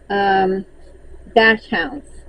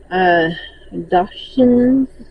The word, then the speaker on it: Dachshunds: and then I started dash hounds. And I know I'm saying it wrong. Dachshunds. But in my head, it's dash hound. But I know every time I type it out, it is not.